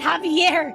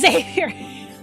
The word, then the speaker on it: Xavier: Javier, Phil, for the last time, his name is not Javier. It's Xavier.